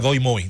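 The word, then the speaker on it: Đổi Mới: Y se genera una política que en vietnamita se pronuncia Doi Moi.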